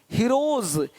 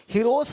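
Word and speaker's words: heroes: हीरोज, हीरोस नहीं, देख रहे हो, रुपीस नहीं रुपीज, ज का साउंड आ रहा है हल्का सा।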